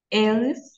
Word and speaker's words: elles: Eux, eux, ils sont français et elles, on va prononcer elles, tout simplement, d'accord? Elles, même au pluriel. Et elles sont belges, d'accord? Voilà, elles, parce que le S, on ne prononce pas le S à la fin, d'accord?